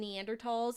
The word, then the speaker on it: Neanderthal: Researching, ago, looking up like the difference between Neanderthals and Homo sapiens, and like Is that how we should be pronouncing Neanderthals?